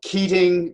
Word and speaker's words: Keating: they keating relations so keating spelled like eating but put a k in front of us and relations